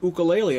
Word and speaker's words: ukulele: He pronounces it wrong, and either Ramin corrected Tim or Tim corrected Ramin, and I think the right way was ukulele, and if I remember right, Tim Teal had bragging rights, so I think you're right.